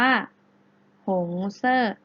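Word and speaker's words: 红色: มาก เลย นะ คะ หงส์ เสื้อ แปล ว่า มี สี แดง สี แดง ได้ ภาษา จีน แล้ว จะ ออก เสียง ว่า หง เซ่อ เก่ง มาก ค่ะ อัน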